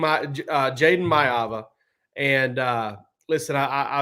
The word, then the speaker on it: Maiava: to unpack here man so Georgia lands Jaden mava okay and that's how you pronounce his name it's not mayaa I'm sorry I wish it was Jay Ro